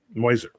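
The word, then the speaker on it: Meuser: Pasadena and Mark Muer moiser this is actually how his name is pronounced Mark moiser who ran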